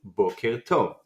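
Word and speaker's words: בוקר טוב: You can practice on your own with the other syllables over here. And now we can read the phrase Boker Tov.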